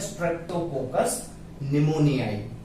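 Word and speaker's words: Streptococcus pneumoniae: इस बैक्टीरिया का एग्जाम्पल है स्ट्रेप्टोकोकस निमोनियाई। ठीक है, पी साइलेंट है, याद रखिएगा।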